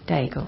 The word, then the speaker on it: Daigle: and again from Lauren how do you say her surname bagel Daigle yes and and good lyrics